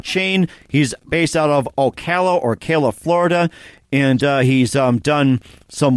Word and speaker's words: Ocala: It's Ocala, Florida. Like everybody pretty much mispronounces it and stuff like that.